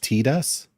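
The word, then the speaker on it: Tidus: Uh, the only name I'll never forget is Titus is supposed to be pronounced Tedus.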